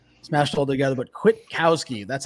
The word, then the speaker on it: Kwitkowsky: But Kwitkowsky, that's how you pronounce that, ladies and gentlemen.